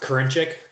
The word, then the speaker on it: Karinchik: yep it's uh pronounced karinchik like the girl's name corrine and then check cringe that's how i